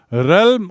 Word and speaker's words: realm: और उस शो का नाम रखा था रेलम of neck Chand, REALM। इसका उच्चारण है रेलम।